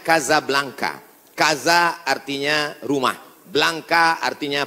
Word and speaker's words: Casablanca: nama negaranya Maroko ibukotanya tulisannya Casablanca cara bacanya Kasablanka Kaza artinya rumah Blanca